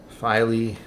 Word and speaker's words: Filey: Filey rhymes with Riley. Okay. Filey, got it. Filey Bay.